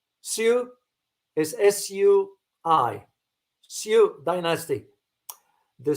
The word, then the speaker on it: Sui: My understanding is the dynasty succeeding the Tang was not the, is it, do I pronounce it correctly? Sui is S-U-I, Sui dynasty.